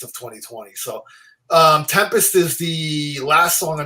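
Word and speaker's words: 7empest: with tulle Tempest now the way they spell this is a seven empist but they pronounce it Tempest but it has the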